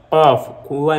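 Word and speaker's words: ك: utofauti hii hapa inatamkwa kafua inatoka sauti itoke kooni huku hii herufi inatakiwa itoke kooni na hii kaf ya mbele inatoka hapa midomoni kaf ka ka tofauti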